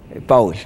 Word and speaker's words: Pawel: Esta noche está con nosotros el señor Powell, yo no sé si pronuncié bien, él es presidente de la Cámara Perú-Polonia. Ayúdeme, por favor, si pronuncié bien. ¿Cómo estás, Powell? ¿Verdad? Sí. Correcto.